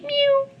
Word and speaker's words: mu: and then this guys you pronounce it new like a little kitty mu any cat fans yes